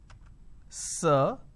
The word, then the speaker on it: sir: is sir right now this particular word is pronounced as sir uh now this er is a vowel sound you will understand what a vowel sound is very soon it's a uh sir this is how we are supposed to pronounce now if you go